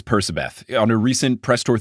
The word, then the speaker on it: Percabeth: He says Percabeth. On a recent press tour thing for the TV show, he said Percabeth.